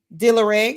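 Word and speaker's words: D'Lareg: Dillereg, did I pronounce it correctly?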